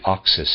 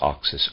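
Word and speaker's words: Oxus: india east of the caspian sea around the oxis and jakarta jakartas rivers i think that's how you say that j-a-x-a-r-t-e-s rivers the other one is oxis o-x u-s rivers now known as the amudaria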